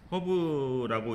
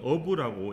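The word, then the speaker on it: herb: 허브의 장점을 말하고 있죠 허브라고 있는데 실은 영어는 어라고 h 발음하지 않습니다 자 하나씩 찾아보면 수세기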